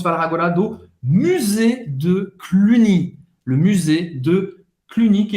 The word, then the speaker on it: Cluny: Cluny, o Y tem som de I em francês. Cluny.